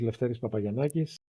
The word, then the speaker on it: Lefteris Papagiannakis: especially your name which I will struggle to pronounce yes thanks for having me first of all my name is leis papay yakis the director of the Greek Council for refugees